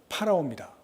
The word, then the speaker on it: 파라오: 우리 발음으로는 바로지만 애굽 발음으로는 파라오입니다.